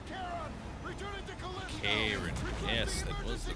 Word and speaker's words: Charon: Charon. Yes, that was the right way to pronounce that word.